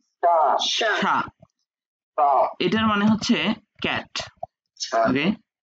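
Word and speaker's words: chat: Singular word এবং plural ওয়ার্ডের উচ্চারণ সেম। মানে সা সা সেম, সা সা না না, সেম শা, উপরেরটা শা বললাম, এটাও শা।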